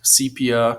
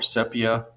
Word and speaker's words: sepia: fade fade effect um sepia or sepia people pronounce it either way sepia sepia tone